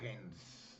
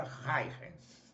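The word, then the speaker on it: Huygens: pelo físico Holandês Christian hens né é um nome difícil de dizer se escreve hu y g e n s creio que se pronuncia hens pois bem a outra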